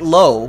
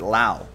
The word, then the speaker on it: Lowe: So it's Nate Lowe. That's how Nathaniel pronounces it, and Brandon pronounces it Lau.